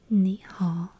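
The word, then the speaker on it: 你好: I think a lot of you already know it's nihal. Nihal. You should repeat it back to me. Yes. Good job. Good. Good pronunciation.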